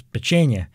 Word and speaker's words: Pečenje: Pečenje. Pečenje. It's pretty close. Pečenje.